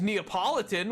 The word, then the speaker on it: Neapolitan: though no it wasn't it is Napoleon no it is Neapolitan which is spelled entirely different these these words I don't know if you've never taken an English class these words aren't spelled the same and E go are not the same word IAB oh my God